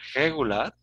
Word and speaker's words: regular: Regular, que sería regular, ¿sí? Olvidando de pronunciar bien la primera R, ¿no?